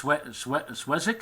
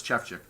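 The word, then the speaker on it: Szewczyk: Chefchik. Can you pronounce that? No, I can't. I'm not even going to. It's Swezik? No, it's Chefchik.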